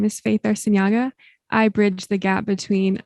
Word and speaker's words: Arciniega: Now we have another individual here it's Faith Arciniega, right? As I said it right? Yes. Okay, Perfect. Arciniega.